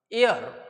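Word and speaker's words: heir: आयर जरी लिहिल तरी याचा प्रोनन्सिएशन र असा होत असतो एच आय आर इथे हचा उच्चारच होत नाही प्र्स करताना एर असाच होतो ब इन द फ्रेश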